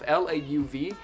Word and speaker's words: Lauv: His name is Lauv, L-A-U-V, and yes, that's how you pronounce it. I watched an interview and he's like, hey, my name is Lauv. And I was like, okay, it's not love, it's Lauv.